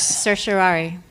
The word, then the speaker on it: certiorari: Sir Shirari.